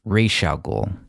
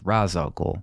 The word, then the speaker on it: Ra's al Ghul: He doesn't save Ra's al Ghul. In this film, incorrectly pronounced Ra's al Ghul.